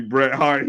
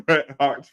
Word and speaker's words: Bret Hart: is don't you John it's supposed to be Bret Hart he just keeps saying I said Bret har every no no I said That's supposed to be Bret heart spr he say it wrong every time that's that shirt you